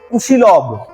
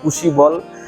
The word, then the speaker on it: কুশিলভ: হয়েছে এর নাম হল কুশিলভ। এই নামের একটু ভেদ আছে। অনেক জায়গায় বলা হয় কুশিব। অনেক জায়গায় কুশিলভ। শ্লোকের মধ্যে কুশি লভ বলে উচ্চারণ করা আছে।